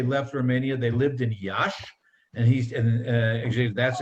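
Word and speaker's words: Iași: burlap before they left romania they lived in yash and he's and actually that's actually where they were married and josh is spelled i-a-s-s-i and he said yeah that's where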